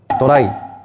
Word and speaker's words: ドライ: 도라이. 일본어로 도라이. 도라이. 일본 발음이긴 한데 영어로 드라이 뽕능 카레를 말하는 겁니다.이 드라이 카레가 탄생하게 된 건요.